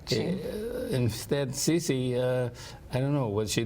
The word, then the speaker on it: Cece: How do you pronounce it? Cece or? Cece for Celeste.